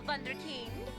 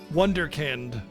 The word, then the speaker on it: Wunderkind: Good dog, my favorite little wunderkind. Wonderkind.